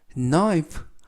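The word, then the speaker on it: knife: 보시겠습니다 Be careful 조심해 나이프 이때 나이프 칼이라는 뜻이고요 앞에 있는 k는 묵음이라서 발음이 되지 않습니다 칼이 is to 너무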